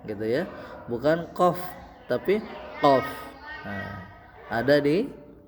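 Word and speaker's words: ق: Nah, huruf selanjutnya adalah huruf qof. Nah, ini menggunakan huruf qi jadi bukan huruf K tapi huruf qi qof. QF gitu ya, bukan qof tapi qof.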